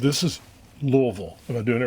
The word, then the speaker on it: Louisville: That's the pronunciation of a Louisian s in the spelling. It's silent. It's silent. This is Louisville. Am I doing it right? Yes. Louisville, Kentucky.